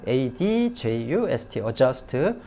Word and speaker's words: adjust: 단어예요 UST 정하라는 단어죠 adjust 영어에서 aj 겹치면 발음 안 합니다 한쪽만 발음해서 그냥 지른 말하죠 UST 스트 아닙니다 그녀는 뭐 해야 됩니까